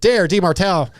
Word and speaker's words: Demartile: Tonight, Guts Racing brings us the 2025 Pro 450 Motors MC Works Champion, Beta USA's Demartile. Hey, do you say Demartile or Demartile? Demartile. Okay, cool. That's how it's spelled.